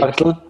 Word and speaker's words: Hartl: We are here with Dominik Hartl. Am I right? Hartl. Hartl. It's hard to pronounce.